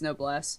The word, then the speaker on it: Noblesse: what I was figuring if it's French it's no Bless yeah that's what I